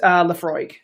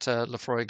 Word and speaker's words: Laphroaig: if I don't so I'm gonna call it Laphroaig fresh Aussie Laphroaig Laphroaig congratulations Laphroaig is correct